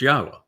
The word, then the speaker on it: Yahweh: Now, imagine the single most important discovery that I made along the way is to prove that Yahweh's name, YHWH, is pronounced Yahweh.